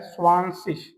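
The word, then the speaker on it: zwanzig: स्वाशिष यहां पर जेड को ज नहीं पढ़ना है। आपको हिंदी वाली प्रोनंसिएशन के ऊपर ध्यान देना है।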